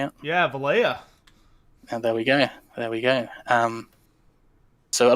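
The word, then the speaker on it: Valaya: Yeah, Valya.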